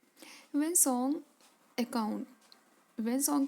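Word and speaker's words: Hiuen Tsang: वेन सॉन्ग की spelling, लिखते कुछ हैं पढ़ते कुछ हैं। सॉन्ग में हम लिखते हैं TSANG, तो ध्यान देना जब भी आप पढ़ो इसे।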